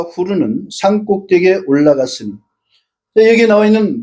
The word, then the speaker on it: 후르: 그다음 계획성에는 후이라고 돼 있는데 그건 한음절이잖아요. 한음절이 아니고 두음절이에요. 후르.